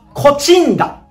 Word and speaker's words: 東風平: 何と読むでしょう正解は東風平東風平と呼びますねまあこれも